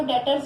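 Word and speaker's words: debtors: ये जो डेटर्स हैं इनमें जो ये बी वर्ड है पहले तो ये साइलेंट होता है।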